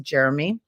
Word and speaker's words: Jerome: Drew nicknamed him Jeromey because his name's spelt Jerome, but it's pronounced Jeremy.